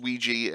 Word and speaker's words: Ouija: just so we know Ouija is pronounced Ouija, and Nistel is Nistel, and Ius, and it's pretty amazing.